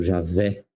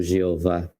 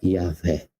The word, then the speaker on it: Yahvé: Por isso o original é Yahvé. Alguns traduzem também com Javé. Uma religião pseudo-cristã traduz como Jeová, mas a tradução literal é Yahvé.